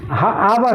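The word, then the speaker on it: hour: मतलब घंटा होता है ध्यान दीजिए हॉर्स नहीं है आवर आवर ये साइलेंट होता है आवर आवर पढ़ा जाता है आवर मतलब घंटा लेकिन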